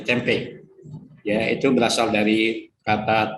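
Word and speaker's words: tempeh: Istilah tempe di dunia pun sering ditulis dengan huruf H, karena kalau dengan tempe tanpa H akan terbaca tempi, sehingga ditambah H sehingga bacanya menjadi tempe.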